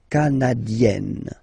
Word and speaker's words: canadienne: Remember, here you've got double N, so you've got to open the so it will become canadienne. Okay.